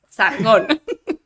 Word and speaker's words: Sargon: Sargon. Con acento en la O.